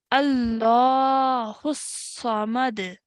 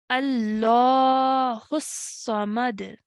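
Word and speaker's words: اللَّهُ الصَّمَدُ: So dhamma will change into a sukoon when we are pausing. Okay, remember your pausing rules. Dhamma changes into sukoon. So this is pronounced as Allahu Samad. Allahu Samad.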